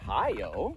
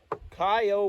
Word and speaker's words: Kaiyo: the second edition of i believe you pronounce it kyo yep kyo whiskey japanese mizinura oak